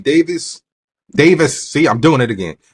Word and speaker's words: Davies: I keep saying Davies because of the way it's written, but he pronounces it Davis.